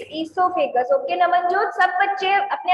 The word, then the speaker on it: esophagus: Esophagus. No, it is not the correct pronunciation. What you are saying is correct, but the pronunciation. Esophagus. Asma, on your video. Smart, switch on your video. Yes, speak again. Esophagus. Yes, very good. It is esophagus.